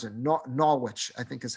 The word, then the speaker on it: Norwich: The people of Norwich, England, I don't know if they pronounce it Norwich. I think they just pronounce it Norwich, I think is how they pronounce it.